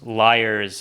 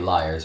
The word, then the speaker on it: Lyre's: little Christmas spice perhaps now we're pronouncing it Liars but it could be pronounced something else l l y r